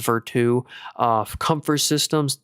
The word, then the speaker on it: Vertiv: Vertive or actually I believe they're pronounced Veru.